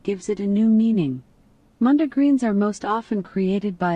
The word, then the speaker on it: mondegreen: to our Mondegreen conversation. Lori taught me a new word. Hef probably knows it. He's a music guy. I'll let you talk. I'm thinking it's pronounced Mondegreen.